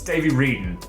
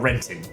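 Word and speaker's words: Davey Wreden: It's Davey Reed, not Renton.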